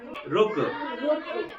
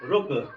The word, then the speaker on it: रुक: इसको इसका उच्चारण करें। ये क्या है? रुक। किसकी मात्रा है? छोटे ऊ की मात्रा। रुक।